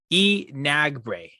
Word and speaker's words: Enagbre: It's pronounced Enagbre. That sounds good. Yeah. Kingsley Enagbre.